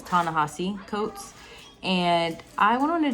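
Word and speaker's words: Ta-Nehisi Coates: author's name wrong, but I believe it's Tanessi Coats. Okay, I had to come on here to correct myself. His name pronunciation is Tanahasi Coats and I went on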